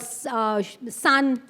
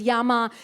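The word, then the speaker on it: 山: So for example, the kanji for mountain, in the Chinese way will be called san. So for example, Mount Fuji is Fuji-san, but then there's the original Japanese way, which is Yama.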